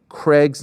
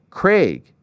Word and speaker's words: Craig: YOU PLEASE SAY PAUL CRAIG'S NAME THE RIGHT WAY? IT'S CRAIG, LIKE THE WORD VAGUE, BUT WITH A CR CRAIG NOT CRAIG .